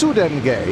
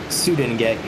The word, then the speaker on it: Sudenge: it's Sudenge. You got to put the emphasis on the UD. Sudenge.